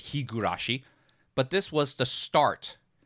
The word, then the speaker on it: Higurashi: Higurashi award now I understand that it's been mispronounced cuz it's Higurashi but this was the start of me mispronouncing